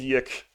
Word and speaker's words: YIIK: The reason why it's called Yick is because when you play it, you make that sound. It's like Yick.